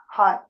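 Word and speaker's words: haigh: know you can say hi in Irish only it's spelled h a i g hi that kind of took all the pressure off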